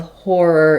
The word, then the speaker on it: horror: And so letters OR do say or in the first syllable. In a stressed syllable, we often have a clear vowel, and letters OR can say multiple different sounds in the stressed and unstressed syllables. But often in the stressed syllables, OR will say the or sound. Like in the word or the number 4, the word more.